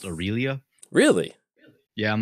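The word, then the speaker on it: Aurelia: the comments that that is why you know aralia is actually pronounced aurélia really yeah i'm not changing at this point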